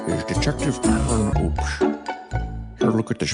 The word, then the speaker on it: Hoops: Your last name is Hoops. My last name is Oops. No, your last name is Hoops. Like basketball hoops. No, it's Oops. The H is silent.